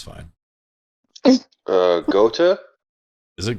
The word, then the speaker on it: Gotha: Gotha? Is it Gotha? Yeah. Okay. I don't know, but if it's German, the TH is usually just T.